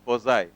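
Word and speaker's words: Poiseuille: है यहां पर तो यह इसको पजाई पढ़ा जाता है एल यहां पर साइलेंट रहता है तो हम लोग यहां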